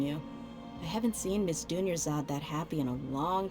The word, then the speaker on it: Dunyarzad: Dunyarzad rhymes with Junior God.